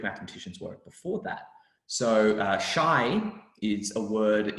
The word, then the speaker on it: chi: And so shy is very similar to this word chi, it's pronounced in Greek, in the Greek alphabet.